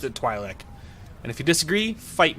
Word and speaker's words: Twi'lek: do it sounds I've always pronounced it twi'lek and if you disagree fight me haha anyway